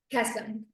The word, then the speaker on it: Kesem: Outreach coordinator for Camp is it kesum or kasum kesum kesum okay I was gonna mispronounce that so I'm gonna turn it over